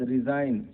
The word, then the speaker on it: resign: और उसके बाद रिजाइन, RESIGN, रिजाइन का भी स्पेलिंग में देखिए जी साइलेंट है, इस्तीफा होता है।